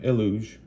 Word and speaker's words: Eluge: are the furries ELO it's it's Deluge so you would pronounce him elu the Shoring sea so elu the the